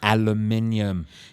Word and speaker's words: aluminium: Okay, same words but different pronunciation. cool. All right. I'm there. Aluminum. Aluminium.